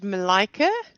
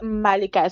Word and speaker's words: Malika: I pronouncing that correctly it is Malika so just like rose of the tongue okay Malika Malika all